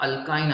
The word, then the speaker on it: alkyne: उसके बाद ये अल्कीन है, यहाँ अल्काइन आएगा, ALKYNE, स्पेलिंग्स पे ध्यान दीजिए, और यहाँ आएगा अल्केन, अल्केन, अल्कीन, अल्काइन।